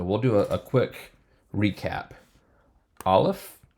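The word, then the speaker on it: אלף: do a quick recap Olive which is a silent letter bait without the doggish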